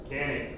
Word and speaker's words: Canik: Canik. Canik. So we're wrong on both. Janik is the Turkish pronunciation.